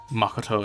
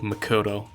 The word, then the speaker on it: Makoto: So that's just why I'm deciding to go with Makoto instead of Makoto.